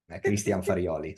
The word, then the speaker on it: Christian Farioli: You are one of the very few that can pronounce correctly my name and surname. Christian Farioli.